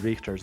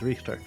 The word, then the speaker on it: Richter: I really like the way the voice actress for Maria in this game pronounces Richter's name, because she actually says it like you would say it in German. Like she says Richter instead of Richter.